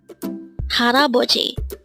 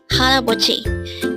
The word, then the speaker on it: 할아버지: Haraboji. Haraboji. This is pronounced as a 4-syllable word.